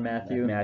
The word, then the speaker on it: Mathieu: Tyrann Mathieu. Mathieu, what is it? Mathieu, I always get it wrong, so I know some of you will be hating on me out there, whatever.